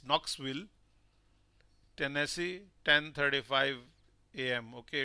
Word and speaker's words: Knoxville: EST thank you dear and I hope uh we don't uh pronounce this K so it's Knoxville Tennesse 10:35 a.m.